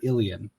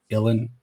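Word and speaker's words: Ilyn: now I'm tripping again, is Sir Ilian. There is that extra syllable in there. Earlier I said Ilan, doesn't matter too much.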